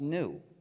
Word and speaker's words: gnu: according to the dictionary the g is silent and it's pronounced new so every time you